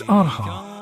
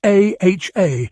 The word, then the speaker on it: AHA: It's AHA, like the band. It isn't AHA, like I'm reading out somebody's registration plate.